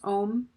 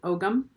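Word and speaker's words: Ogham: and working with runes and with the om ohm I used to pronounce it o gyum which was wrong in both books she will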